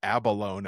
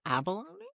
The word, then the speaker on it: abalone: I feel like Tom says abalone at one point and doesn't say e at the end.